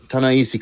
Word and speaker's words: Ta-Nehisi: Tanishi Coates. Is that how you pronounce his name? Dan. Yeah, Ta-Nehisi Coates.